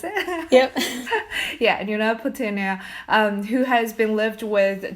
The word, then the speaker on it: Nuna Petunia: Tuesday, and they also have a lovely dog, Nuna Petunia. Is that how you pronounce it? Yep. Yeah, Nuna Petunia, who has been lived with Teela since March of 2009.